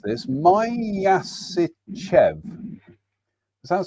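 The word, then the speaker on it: Myasishchev: It's the I've got to try and remember how you pronounce this. Myasichev. Does that sound right? Myasichev, yes.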